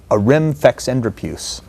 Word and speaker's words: Arimfexendrapuse: It's a word specifically programmed to destroy him, and that word is Arim Fex Endropus. That's how I would pronounce it.